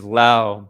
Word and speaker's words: Laos: Um, but technically the name of the country is Lao, but because you know the French they always add like the silent s's at the end of things even though they don't pronounce it.